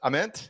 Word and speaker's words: Ament: Well, listen, Pearl Jam, it's Jeff Aement, right? So, if Jeff Ament, who has been on this show, by the way, if he pronounces it A, then I'm sorry, Nate, your last name is Ament. No matter how you want to say thank the basis for Pearl Jam calls it Amen. It's Amen.